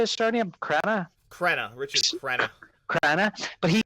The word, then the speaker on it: Crenna: Crenna.